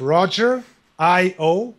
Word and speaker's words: Rogerio: So Rogerio spells like Roger. Think of Roger, I-O, Rogerio.